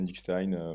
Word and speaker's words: Dykstein: Il y a deux manières de le prononcer, Dickstein, Dickstein.